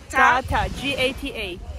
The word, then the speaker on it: gata: And she brought kata. Game. Kata. G-A-T-A.